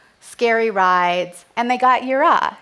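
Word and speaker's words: יראה: This is pronounced yirah.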